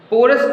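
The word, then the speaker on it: Porus: वैसे पोरस नाम है, यहाँ पे स्पेलिंग रॉन्ग है. पोरस जो अलेक्जेंडर की जो सबसे फेमस लड़ाई हुई यहाँ पर, वो अलेक्जेंडर और पोरस के बीच हुई थी.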